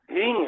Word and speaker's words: ह्रीं: गुरुजी, जो मंत्र है उसमें हिंग और क्लिंग में आधा गा का उच्चारण है क्या? नहीं, ह्रींग है, ह्रींग। हा नीचे आधा र, बड़ी की मात्रा और बिंदी।